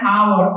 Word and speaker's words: hour: Because when you pronounce it, you do not say hour. You say hour.